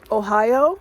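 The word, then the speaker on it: おはよう: I think Ohio, like the Yeah, like the state, Ohio, is how you say good morning.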